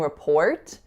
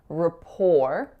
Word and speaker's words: rapport: so we're not saying rapport and I'm not making an unreleased to either I'm pretending the chi is actually not there so I'm saying rapport rhymes with the number four you'll notice as well